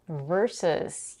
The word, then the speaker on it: versus: Versus. Here we have a stir sound in the first syllable.